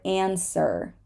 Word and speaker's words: answer: the word two and in the word answer answer we do not say answer and Sir okay um the x